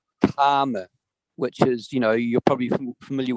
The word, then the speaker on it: karma: That's why I think it's really important for pronunciation, because I'm not talking about kamma, as the Thais use the word gum, or gamma, as often they would say in Pali, but the word is karma, which is, you're probably familiar with the Kama Sutra.